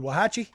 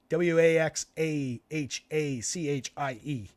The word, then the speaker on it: Waxahachie: How do you pronounce that, Clintwood? Wahachi? I'm guessing that's pronounced Wahachi. Waxahachie.